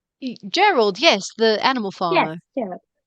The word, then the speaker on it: Gerald: Gerald is that how you say his name Gerald yes the animal farmer yeah yes yes there